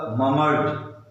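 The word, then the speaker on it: murmured: यहाँ पर अलग अलग करते समय, साउंड निकालते समय मरमर्ड बोलते हैं, लेकिन जब हम उसको एक साथ बोलेंगे तो ममर्ड, ममर्ड, ठीक है। शुरू शुरू में आप मरमर्ड बोलो, लेकिन जब बड़ा हो जाओगे तो ममर्ड बोलना।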